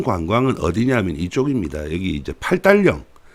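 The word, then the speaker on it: 八达岭: 여기 이제 팔달령, 마다링 이렇게 발음을 하는데 팔달령 이쪽으로 많이 갑니다.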